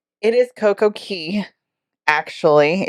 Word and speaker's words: CoCo Cay: is it 1K or CoCo Key it is CoCo Key actually if you know c-a-y is pronounced key but it is perfect